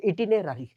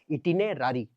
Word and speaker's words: itinerary: इटिनेरारी, इटिनेररी नहीं, इटिनेरारी। वो अंग्रेज अपना प्रोनाउंसिएशन करता है ना, हम लोग अपना करते हैं, ठीक है।